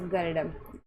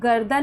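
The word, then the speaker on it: garden: जैसे गर्डन ये गर्दन नहीं है। कई बच्चे इसको गर्दन गर्दन पढ़ने लग जाओ। ये गर्दन नहीं है। ये गर्डन है।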